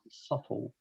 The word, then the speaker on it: subtle: five good very good subtle subtle b is not pronounced subtle let me check oh